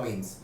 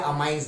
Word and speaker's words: amine: Important lecture, basicity of अमीन्स। तो अमीन्स या अमाइंस, जो भी आप प्रोनाउंस करते हो, मैं अमीन्स बोलता हूं, आप अमाइंस भी बोल सकते हो।